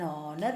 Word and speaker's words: honor: you and you know h is something silent and an is used before such words because here the sound though the word has a consonant h but it is something which is silent so the sound we can hear is of a vowel sound hence we use the indefinite article but a hand before such words which begin with h and h there is silent and r we say an honor we say okay and